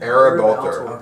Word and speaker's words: Ereb Altor: Ereb Altor.